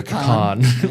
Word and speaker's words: pecan: pronounce it, but cuz I know a lot of people say pecan, but I I've always said pecan pie.